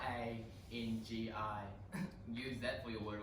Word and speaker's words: Rangi: It's pronounced Rangi. What? R-A-N-G-I.